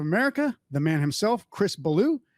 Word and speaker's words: Ballew: the man himself chris baloo i assume that's how you pronounce it correct that is blue you did it right off the bat no correct fantastic